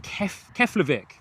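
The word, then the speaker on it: Keflavík: Terry saying Keflavik.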